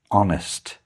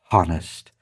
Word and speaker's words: honest: Next up is honest. Remember the h is silent and we don't say honest, it's honest.